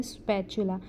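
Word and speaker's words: spatula: Fish स्पैचुला, T silent है, स्पैचुला।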